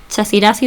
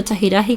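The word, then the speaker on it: Chaxiraxi: que está basada en la deidad Chasirasi o Chajiraji, como hay dos maneras de pronunciarlo, que era una deidad que ya existía en el mundo guanche, ¿no?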